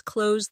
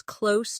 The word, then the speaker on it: close: As an adjective, close means near, like The store is close to my house. The two meanings sound different. The verb rhymes with rose, while the adjective rhymes with dose.